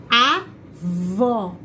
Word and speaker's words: avó: Eu tenho lá a palavra avó, avô. Olha pra minha boca. Quando eu falo, primeiro, avó, avó. Agora, olha quando eu falo a outra. Avô, avô.